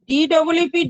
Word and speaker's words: deep: মনে রাখবে সবাই, DEEP টা আমরা অনেকক্ষণ ধরে উচ্চারণটা করবো, অর্থাৎ কিনা দীর্ঘ ই হলে যেটা হয় আর কি।